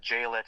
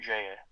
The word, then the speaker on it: Jaillet: Yeah, yeah, it's Luke cuz it's a French name, so it's l u c and Jaillet is spelled j a i l l e t.